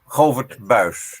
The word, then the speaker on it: Govert Buijs: Professor Govert, the right pronunciation of your name is Govert Buijs, right? You're mute. Govert Buijs, yeah. Govert Buijs, ok.